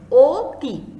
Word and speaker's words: অতি: দেখো প্রথম যে শব্দটা এখানে লিখেছি অতি, দেখো অধ্বনিটাকে কিন্তু আমরা অ বলি, কিন্তু এই শব্দটাকে অতি শব্দটাকে আমরা কেমন করে উচ্চারণ করি? ও এর মতো করে, অতি।